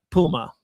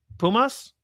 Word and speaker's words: Pumas: Um, it's San Diego FC hosting uh Puma. So, Pumas, did I say it wrong?